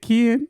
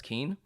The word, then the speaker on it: Kien: your name is it Kian or is it kin or so record you got you gotta let them know so for the record my name is actually pronounced as Keen but I've been hearing